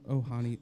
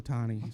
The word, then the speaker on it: Ohtani: And now Ohani, how do you pronounce his Ohtani? name? Ohtani. Sorry. That could be a stat